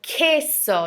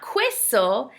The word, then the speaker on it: queso: so the letter Q anytime it's followed by u the letter U it's going to just sound like a k we're going to skip right over the U and go into the next sound see so queso not quo see de so one